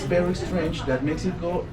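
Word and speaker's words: México: Somebody think this is the moon, and it's important because Mexico, it's very strange that Mexico, it's writing with X, but we pronounce with J.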